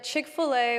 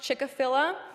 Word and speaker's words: Chick-fil-A: Case in point, it wasn't until I was well into college that I learned Chick-fil-A was actually not pronounced Chick-a-filla.